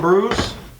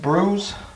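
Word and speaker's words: brewis: So what I'm making today is fish and brews. It's spelled B-R-E-W-I-S, but it's pronounced brews.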